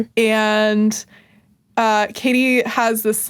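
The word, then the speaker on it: Cady: It's Katie, but she says Caddy. I'm going to call you. Right. Yeah, cuz that's how it's spelled. C A D Y. Yeah, but it's pronounced Katie.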